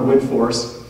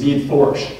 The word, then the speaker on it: Widforss: can feel free to say goo in our wood force which is how looks phonetically but the correct pronunciation and people always wonder about this is bead force with just a little bit of a sh